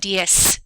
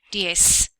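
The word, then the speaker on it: diez: made a b sound and DS the Z made a s sound DS okay so let's practice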